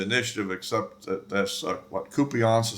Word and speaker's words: Kupiansk: And for the most part, Russia has the initiative, except that that's what Kupiansk is how you pronounce it, the area kind of in the